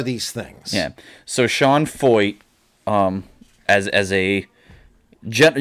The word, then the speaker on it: Feucht: this man this sean foyt and yes that is how you pronounce it uh it's it's a german name pretty sure it looks german to me but it's not pronounced